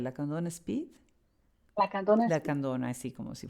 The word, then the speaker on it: Lacandona: ¿Cómo lo vas a pronunciar? La Candón Speed. La Candona.